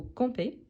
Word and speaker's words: campez: taureau donc vous compe ici la prononciation c'est la même sauf que le verbe à l'infinitif finit en er r tandis que le verbe conjugué finit en e Z à cause du sujet donc vous campez dans un prè attention